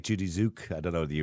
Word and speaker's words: Tzuke: I used to like Judy Zook. I don't know if you remember Judy Zook.